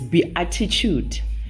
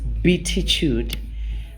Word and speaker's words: Beatitude: beatitude psychology center and when you write it down it might look like it's be attitude but is pronounced betitude we are based in